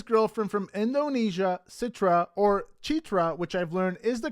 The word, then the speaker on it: Citra: USA and his girlfriend from Indonesia Citra or chetra which I've learned is the correct way to pronounce her name and that's weird because Sam and his family still call her Citra and so you're going to hear Citra on